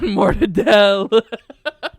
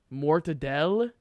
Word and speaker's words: Mortadella: even the Italian pronunciation mortadell is that the Italian pronunciation yeah that's how they say it so you're saying Italians don't say Mortadella you have to understand